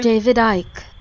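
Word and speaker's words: Icke: pronounce this name correctly what is it again david ike oh david ike okay you didn't have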